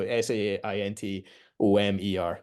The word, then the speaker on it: Saint Omer: Spelled like Saint O, so Saintomer.